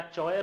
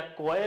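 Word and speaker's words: choir: इसका तुम बताओ क्या चयर है क्या क्वयर है नहीं प्रोनंसिएशन याद रखें द प्रोनंसिएशन इज क्वायर क्या बोलते हैं इसको क्वायर क्या बोलते हैं? क्वायर नॉट चयर नॉट क्वायर।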